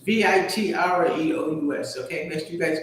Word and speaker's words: vitreous: I said vitreous and vitreous. It's vitreous.